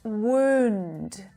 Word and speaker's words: wound: quite serious right and it's pronounced wound with that long ooh sound wound wound and this